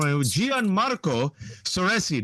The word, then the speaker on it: Gianmarco Soresi: Gianmarco Soresi. Did I pronounce that properly?